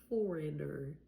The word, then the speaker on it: foreigner: If you're learning English, you might be a foreigner. Foreigner. But the G before the N does not make a sound.